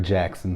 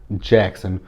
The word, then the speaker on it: Jaxn: So from what I'm gathering is Derek Jackson, which his last name is spelled Jaxn. The hell? Because I kept looking at his last name, I'm like, is that supposed to say Jackson?